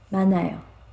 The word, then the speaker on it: 많아요: Yeah, this case when you read 만, and then we don't pronounce h sound, this one. So n sound goes zero part, right? So ma, nayo, 많아요.